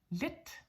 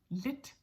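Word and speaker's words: lidt: want to mention is DT as in for example lit lit there is a t l i DT it means little or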